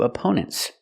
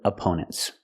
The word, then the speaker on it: opponent: up a a opponent the stress is on the second syllable we use a long o sound like no and go for the second syllable AO opponents and the